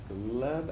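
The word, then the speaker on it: Glebe: So if you zoom in, actually it's North Washington and Gleb Avenue is how you say it.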